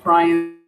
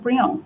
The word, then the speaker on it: Brion: Her name is actually just Princess Brion. I don't know how your text to speech messed that up. It's just wait, hold on. Let me make sure I'm saying it right. Because I type it in my head and I have an idea of how it should be. Yeah, it's just Brion. Brione.